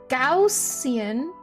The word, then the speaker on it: Gaussian: says a youtube video gaussian gaussian wow that is that is way different almost the opposite of how i pronounce it besides the and part well no even that i say on rather than n gaussian function is the